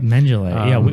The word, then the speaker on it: Mengele: Mengele. We were having a discussion on how to pronounce his name before the show. And we settled on Mengele.